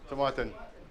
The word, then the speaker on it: Tomatin: Tomatin. Yeah, it is George. Tomatin. Yeah. Not tomato.